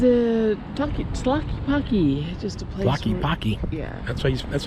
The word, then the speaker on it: Tlaquepaque: Tlaquepaque. Yeah. That's how you pronounce that.